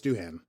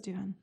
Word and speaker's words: Doohan: don't know doing duane it's doohan okay with an h i thought it was duhan uh doing doing james